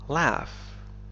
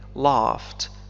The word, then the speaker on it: laugh: فالإنجليزية الأمريكية تنطق ب laugh, مثل cat, laugh, cat, لكن في الإنجليزية البريطانية تنطق ب laughed, مثل father, father, I laughed, I laughed. فهذين الحرفين ينطقان كما ننطق آ في father.